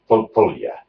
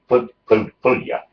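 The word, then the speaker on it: Pölja: in a place called Pulja. It's spelled Polja. The O has got the O with dots, so the O is not an O. In Finnish, it's so it's Pulja.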